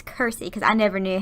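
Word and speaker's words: Circe: of crazy and kursi her name is actually pronounced Kirstie I've seen a lot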